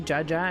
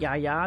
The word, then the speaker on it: Jaja: So yesterday I learned that I pronounced Jaja wrong because it should be Jaja and not Yaya the way I was reading it.